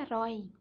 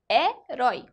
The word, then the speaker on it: herói: viu a gente vê b11 é e é herói escutem bastante é troy a primeira sílaba da palavra f joy é justamente o